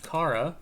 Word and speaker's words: Kara: So now, next up, we're gonna have Zach and Kara. I've been informed is how to pronounce the name.